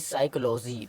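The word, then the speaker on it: psychology: silent नहीं होता है पी लेटर पी एस से पहले आया पी साइलेंट हो जाता है जैसे पी एस वाई पी एस इधर है ना पी पी के एस से पहले आ गया आ गया है पी तो इधर पी हमारा साइलेंट हो गया है तो एस वाई सी एच ओ एल ओ जी वाई तो इसको पढ़ेंगे साइकोलॉजी पीन को हमने नहीं पढ़ा है साइकोलॉजी सीधा यहां से स्टार्ट किया साइकोलॉजी इसी तरह इसको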